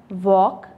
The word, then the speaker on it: walk: हमारा L silent है, walk again L silent है, chalk L silent है, lamb यहाँ पे हमारा B साइलेंट है, विसल यहाँ पर हमारा T साइलेंट है।